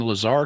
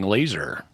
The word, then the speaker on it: Lazar: points to sa kellet for pronouncing Lazar correctly and not saying laser oh but that would